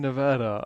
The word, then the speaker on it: Nevada: Well, um, when you were in Nevada, um, I'm curious, uh, the how would you describe the overall vibe of not only Sorry, let me correct myself.